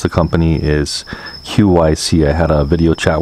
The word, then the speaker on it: QYSEA: and by the way that's the way you pronounce the company is Qi see I had a video chat with them and